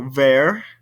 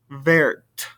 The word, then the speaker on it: vert: the pronunciation between them for example ver vert i don't hear the t over here but i do over here blah blah no pronunciation